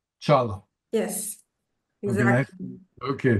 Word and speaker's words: Çağla: Shajla? Çağla. Çağla. Chala. So the G is not pronounced. It's Yes, silent. yes, it's silent, and the first letter is ç. Chala.